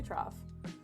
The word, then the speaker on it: trough: to pronounce this word I want to say trough you've got through you've got thorough you've got tough you know it is trough okay cool got it